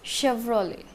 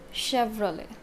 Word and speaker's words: Chevrolet: It's Chevrolet. Chevrolet. ET is also silent in this, like Renault, but Chevrolet is from United States and Renault is from France.